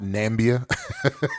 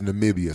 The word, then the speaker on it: Namibia: and some police folks that's not nambia as our current sitting president would like to pronounce it that is Namibia so that is so